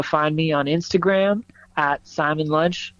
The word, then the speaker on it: Lunche: me on Instagram Simon lunch that's lunch with an e and pronounced uh just like lunchtime oh yeah and and